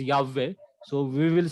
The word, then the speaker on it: Yahweh: But we know that proper pronunciation is Yahweh.